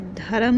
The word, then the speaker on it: धर्म: इसे धर्म नहीं पढ़ते, पूरा र नहीं, ये आधा र है, धर्म, धर्म।